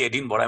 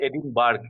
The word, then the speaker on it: Edinburgh: So obviously it is Edinburgh if you pronounce it. কিন্তু আসল উচ্চারণটা হচ্ছে এডিনবরা।